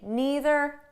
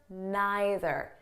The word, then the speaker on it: neither: want you know that the pronunciation is flexible so you can say neither neither either either okay there's no difference i